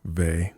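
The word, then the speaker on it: Weil: Uh, Simone V maybe, which by the way is actually spelled quite differently than how it looks. Simone Ve, which is actually the last name is spelled W E I L, but don't you dare say it that way.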